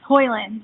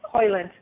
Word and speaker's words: Hoyland: Am I pronouncing your name right? Yes, Hoyland. Yeah. Hoyland.